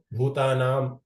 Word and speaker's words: ಭೂತಾನಾಂ: ವಿಷ್ಣವೇ ವಿಷ್ಣವೇ ಪ್ರಭವಿ ವಿಷ್ಣವೇ ಇಲ್ಲಿ ಮಹಾಪ್ರಾಣ ಬಂದು ಭೂತಾನಾಂ ಭೂ ಮಹಾಪ್ರಾಣ ಇದೆ ಮತ್ತೆ ಆದಿಭೂತಾಯ ಆ ಭೂ ಕೂಡ ಮಹಾಪ್ರಾಣ ಇದೆ ಭೂಭೂತೆ ಭೂ ಮತ್ತೆ ಭೂ ಭೂ ಎರಡು ಭೂ ಮತ್ತೆ ಭ ಎರಡು ಕೂಡ ಮಹಾಪ್ರಾಣ ಉಚ್ಚಾರಣೆ ಮಾಡಬೇಕು ಪ್ರಭು ಕೂಡ ಮಹಾಪ್ರಾಣ ಉಚ್ಚಾರಣೆ